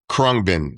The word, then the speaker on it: Khruangbin: Khruangbin.